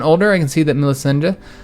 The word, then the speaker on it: Melisende: As she's growing older, I can see that Melisende, I think that's, yeah, Melisende, that's how I'm going to pronounce it, could use some guidance in some of my experienced areas.